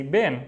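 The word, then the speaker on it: بين: However, in daily life we say Ben and Ben means between.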